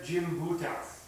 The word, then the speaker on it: Gimbutas: I want to recommend to everyone, and for future study, a work by someone called Maria Gimbutas, G-Y-M-B-U-T-A-S, which is Lithuanian, and I think it's pronounced Gimbutas.